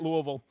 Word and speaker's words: Louisville: doing louisville kentucky that's how you say it louisville french alps pool dorset england cool jersey channel